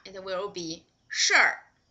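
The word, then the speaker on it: 事儿: Okay, when it is 儿化, it will be 事儿.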